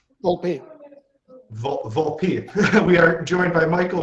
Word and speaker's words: Volpe: Make sure I'm pronouncing that right. Volpe. Volpe.